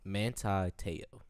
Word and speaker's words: Manti Te'o: Manti Te'o.